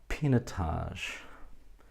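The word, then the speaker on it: Pinotage: on to the Reds if I was to say Pina Tosh what would you think Peter Tosh it sounds a little bit like Pinot Noir doesn't it and that's for a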